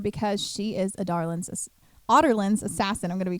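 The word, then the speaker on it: Adarlan: So Selena is in Andovia because she is a Darlin's Otterland's assassin. I'm going to be correcting myself the entire podcast. Yeah. How did you pronounce it? Adarlin.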